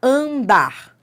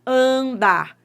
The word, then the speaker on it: andar: Por exemplo, ó, andar. Isso é um dígrafo, tá? Mas vamos entender a lógica. Por que que é um dígrafo andar? Porque você não pronuncia o N.